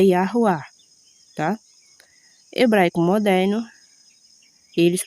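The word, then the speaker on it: Yahweh: A pronúncia sem sinais aoréticos, conforme o hebraico antigo é Iará, tá?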